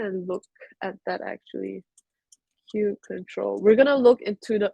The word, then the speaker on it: kubectl: Roman said some people pronounce kube control as kubectl or kubectl. So I saw online saying that the correct term is kube control, but hey, who's to say what's absolutely wrong, right?